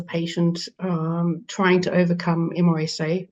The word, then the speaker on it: MRSA: um trying to overcome MRSA or Mera as some people pronounce it um you know that